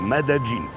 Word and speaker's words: Medellín: W trakcie dzisiejszej podróży mamy do przejechania dystans pomiędzy trójkątem kawowym a miastem Medellín, znanym u nas jako Medellín, ale tak to się właśnie tu wymawia, Medellín.